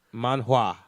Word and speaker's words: manhwa: I was Alright, trying so I was trying to throw too many syllables in that shit.